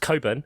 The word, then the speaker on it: Cockburn: Wasn't there someone named Cockburn? Somebody's. There is there, but it's pronounced Coburn.